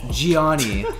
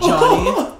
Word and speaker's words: Gianni: One, my name is Gianni, not Johnny. It's okay, like a lot of people call me Johnny, but it is Gianni if you are trying to spell it or pronounce it correctly.